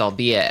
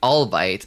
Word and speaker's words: albeit: have I got here I recently learned albeit is pronounced albeit and I thought it was like all bite oh yeah it does